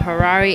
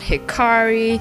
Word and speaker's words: Hirari: And FYI, my name is spelled Hirari, Hirari, not Hikari, not Hillary, I don't know what you guys call me, but it's not even Rari or Hira, it's just Hirari, okay?